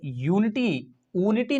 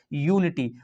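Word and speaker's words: unity: यूनिटी का ये यूनिटी नहीं पढ़ा जाता है, इसको पढ़ा जाता है यूनिटी, तो यूनिटी का जो साउंड है किस में जा रहा है, फर्स्ट साउंड ऑफ प्रोनाउंसिएशन ये से जा रहा है, तो इसके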